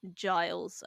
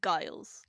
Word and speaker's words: Giles: So it's definitely Giles and not Guiles. Like definitely not a hard G.